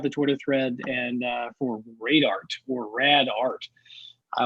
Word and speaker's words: Radart: And he calls it Radart, R-A-D-A-R-T, or cool. Rad Art. I think that pronunciation also works.